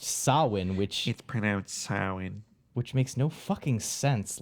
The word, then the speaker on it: Samhain: even in this movie, is Samhain, but it's pronounced Samhain, which makes no fucking sense.